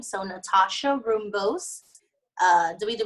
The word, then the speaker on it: Nathasha: in my name but there's a silent H after the deep the T so be like Natasha that's how it's spelled but it's pronounced Natasha anyone yeah cuz cuz